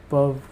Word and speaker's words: peuvent: pas, vous ne pouvez pas, il, elle ne peuvent pas. The pronunciation is je peux, tu peux, elle, on